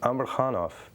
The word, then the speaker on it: Amarhanov: her name amarhan uh the last name is pronounced Amar khanov um this has a few meanings to me